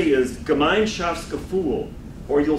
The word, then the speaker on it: Gemeinschaftsgefühl: Gemeinschaftsgefühl.